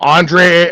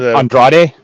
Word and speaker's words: Andrade: Um Andre Andre I could never say his name. Andrade.